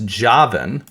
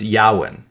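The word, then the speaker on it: יוון: So the Hebrew, you're going to see in your Bibles Javin, but it's actually pronounced Yawin.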